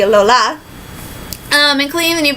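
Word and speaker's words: Alola: didn't say you pronounce I've been calling it the Aloha it's the ole ola um and clean when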